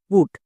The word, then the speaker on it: put: জন্য টো তাহলে কি হলো টি ইউ টি পুট দেখো অত্য সহজে আমরা এই ওয়ার্ডটিকে উচ্চারণ করতে পারছি কিন্তু আগের টিপস অনুযায়ী যদি